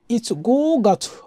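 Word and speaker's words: 五月: শিখব যেটা হচ্ছে গো আরটা হচ্ছে তো গো গো গাছ মানে মে মাসকে বুঝাতে আমরা যে উচ্চারণটা করি সেটা হচ্ছে গো গাছ মানে গো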